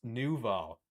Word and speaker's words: nouveau: Pronounced nouveau. Just means new in French.